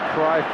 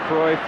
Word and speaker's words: Cruyff: When I tell you that you can say Cruyff or Cruyff, you can say Jordi or Jordi.